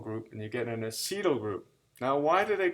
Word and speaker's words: acetyl: i want a seat phonetically a it's it's acetyl ac il acetyl okay so the acetyl